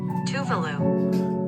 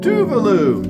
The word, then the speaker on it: Tuvalu: today we're talking about Tuvalu, or however it's pronounced. Let's talk about it. Pronunciation of Tuvalu. Here we go. Are you ready? Tuvalu. Tuvalu, just like I said it. Yay! We got it right.